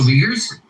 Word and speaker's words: Uyghur: I know what the joke was, but the actual pronunciation of their name, the Chinese group, the minority group in English, is this weird. Uyghur.